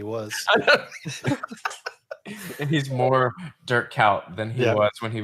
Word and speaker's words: Kuyt: I said Coit. I'm sorry, Cout. Dirk Cout. My bad.